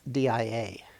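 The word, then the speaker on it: διά: So the corresponding Greek word is dia, D-I-A, which would have been pronounced dia in ancient Greek.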